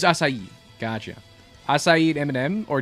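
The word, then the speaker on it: açaí: How do you pronounce that? S? Oh, it's acai.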